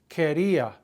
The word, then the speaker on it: quería: Quería. Ser, ir, and ver are the only three irregulars in the imperfect. Querer, drop the ER and add, drop the ER and add I-A, accent on the I.